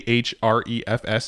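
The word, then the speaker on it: Ahrefs: favorite our favorite each Refs it's actually the only SEO tool really used that is true we canceled all others yeah that's true and it's spelled a href s it's called href s-- and it is an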